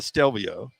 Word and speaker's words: Stelvio: get it um first of all it's a stelvio right it is a stelvio yeah it's an alfa romeo stelvio and then